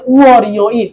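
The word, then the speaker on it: 월요일: তখন ওয়াল ইয়োইলটা উচ্চারণ করতে হবে উয়ারিও ইল, উয়ারিও ইল।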